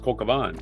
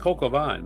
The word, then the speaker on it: coq au vin: Isn't it like Coq Van. Like the Q is silent? Like it's just No, it's pronounced Coq Van. Like croquette? Coke. Like how you say croquette? No, it's Coq Van. Pronounced Coq Van, man. So the Q is not silent.